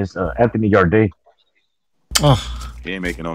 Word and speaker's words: Yarde: Didn't he say Yardy or something? Yeah. Oh, I don't know how to pronounce his name. Yeah, I see Yardy sometimes too, man. Yeah, okay. No, it's Anthony Yard.